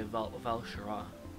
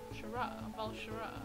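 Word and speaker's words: Val'sharah: My second favourite zone is Valshahara. It's the first one that. Nothing. What? In WoW they say Valshara. Valshara. Yeah, that's how they pronounce it in WoW.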